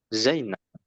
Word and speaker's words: زينب: Kalau tidak ada yang panjang ditekan di huruf pertama seperti Zainab ya za-nya ditekan.